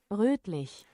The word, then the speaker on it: rötlich: How is this o pronounced? It's like u. Rotlich. Rotlich. Rötlich.